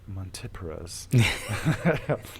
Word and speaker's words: Montipora: with a substantial population of monoporos or as you say it very so eloquently montipora's that's the scientific pronunciation for those of you that are uninitiated um yeah usually from